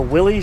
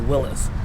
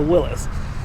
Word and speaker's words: Willys: talk about the pronunciation i've always known it as a willy sheep but apparently his pronunciation the actual guy is willis so uh i apologize to everybody who also thought it was willy's it's incorrect it's a willis in our case i